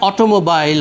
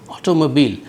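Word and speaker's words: automobile: বা ধরেন অটোমোবাইল আমরা বলি খুব সহজেই, কিন্তু সঠিক উচ্চারণটা হচ্ছে অটোমোবিল।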